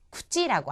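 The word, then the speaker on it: くち: 자, 그 다음에 나오는 것은 구찌라고 하는 겁니다. 구찌는요, 입이라는 뜻입니다. 구찌. 이때의 치 발음은 첫음이 아니잖아요. 그렇기 때문에 구찌에 가깝게 발음이 나겠죠. 구찌.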